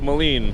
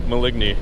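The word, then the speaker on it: Maligne: And it's pronounced Lake Moline, not Lake Maligny.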